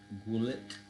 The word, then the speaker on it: Goulet: I would pronounce it Goulet Bluff. So it's spelled Goulet. That's how I pronounce it.